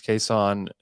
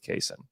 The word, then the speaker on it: Cason: is but it is case on he said it's supposed to be said this way well he said his mother pronounces it that way okay your mom named